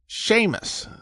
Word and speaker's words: Seamus: It's like the difference between the way the S is pronounced in the English word sure, slender, and suck, broad."